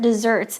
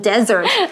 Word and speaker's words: dessert: Okay, for instance, we can say one of Nancy's favorite desserts is chocolate cake with a scoop of ice cream on the side. Yum, OK. 所以接着我们来看 food 食物可以怎么分类哦？你可以在上面写像是 main course，就是有主菜的意思，或者是甜点，还记得怎么说吗？Dessert。记得发音不能讲成 desert，这是沙漠，OK？So one S 是 desert 沙漠，两个 S